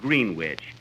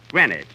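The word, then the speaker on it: Greenwich: green witch Village Kenny that's not green witch you see here in New York it's pronounced grenage grenwich see who did you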